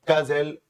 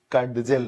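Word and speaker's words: cudgel: एक बड़ी ही खास फ्रेज है, कज़ल वांस ब्रेन। इसको जब आप पढ़ेंगे तो डी को साइलेंट कर देंगे, कज़ल बोलेंगे, कडजल नहीं बोलेंगे या कुछ और नहीं बोलेंगे।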